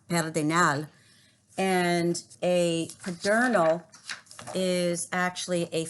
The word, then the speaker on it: Pedernal: And just to let you know, Pedernal also is a Spanish word pronounced Pedernal, and a Pedernal is actually a flat top mountain in New Mexico.